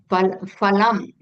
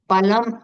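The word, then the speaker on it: फलम्: Like for example, phalam is fruit, palam is meat. So instead of phalam, if you say palam, then fruit becomes meat. So every Sanskrit letter, that's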